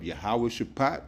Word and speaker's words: Jehoshaphat: to the valley of yahawah shapat or as I read Jehoshaphat is pronounced in the Paleo Hebrew yahawah shapat which means yahawah's judgment